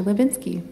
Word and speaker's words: Hlebinsky: like to extend a warm welcome to Levinsky thank you so much I always get excited when someone pronounces my name correctly very complicated just so